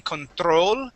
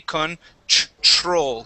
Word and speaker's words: control: When we pronounce a TR in English, okay, that TR is it sounds like a CHR. Okay, so I want you to try this word. Instead of saying control and using a hard R, we say control.